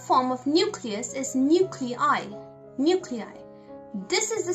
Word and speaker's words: nuclei: Nuclei. This is the spelling and this is how it's pronounced. Nuclei.